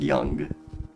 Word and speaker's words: Yonge: for my name and it is just pronounced young I think this is